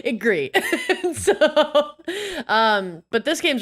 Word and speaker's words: Gris: to mispronounce this but like gris or grease or Grace whatever g a g gree yeah so see I'm wrong gree so um but this